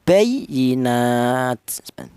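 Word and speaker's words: بيّنات: Jadi cara bacanya ditekan bayyinat ditekan sedikit saja ya.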